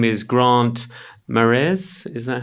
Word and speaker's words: Marais: His name is Grant Marais. Is that how you pronounce it? Marais. It's actually Marais. Yeah, kind of French. French and Scottish.